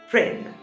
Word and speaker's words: Prynne: Hester Prynne, rhyming with sin.